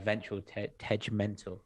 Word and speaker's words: Ventral Tegmental: We have Pattern Machine and we have Ventral Tegmental. Hard G. Very hard G.